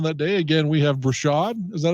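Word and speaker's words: Breshad: catch a touchdown that day again we have brashad is that how you say it yes his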